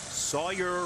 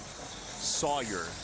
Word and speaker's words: Sawyer: name and you're like, why are you stressing the zone? His parents love Sawyer, not Sawyer. Yeah. Sawyer. Sawyer Robertson. We say it right for his parents.